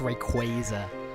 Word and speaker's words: Rayquaza: They're like, it's Rayquaza.